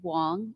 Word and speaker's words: Wang: It it is Wong. It's I know it spells like Wang, but it's Wong.